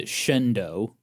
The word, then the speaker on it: Shenandoah: I do not understand Shendo for Shenandoah, Pennsylvania.